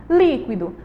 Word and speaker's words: líquido: Líquido, líquido. A gente sabe aí que líquido, a última, a antepenúltima é a li. A sílaba li, ela é a mais forte, certo?